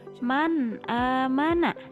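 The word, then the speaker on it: مَنْ آمَنَ: Jadi dibacanya harus jelas nunnya, seperti kita bilang huruf N. Man amana, seperti itu ya.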